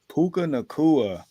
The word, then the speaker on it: Puka Nacua: I don't even how you pronounce his name. Puka Nacua. Puka Nakua.